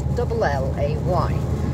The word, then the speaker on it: Llay: It's Llay, but in fact, you pronounce pronounce double L in Welsh, which is Britannic, because, you know, English is a mixture of is foreign, basically.